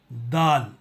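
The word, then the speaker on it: دال: हैं वह अक्षर है दाल दाल इसको उच्चारण करने के लिए अपने जुबान के 9 को ऊपर के सामने वाली दो दातों पर रखकर कहना चाहिए दाल यह बिल्कुल हिंदी अक्षर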